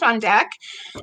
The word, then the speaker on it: Butt-Fundak: everybody for joining us I'm here with on deck and is that the way to pronounce it yes yes okay good um